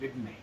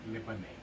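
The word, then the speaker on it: לבני: Libne, not Libane.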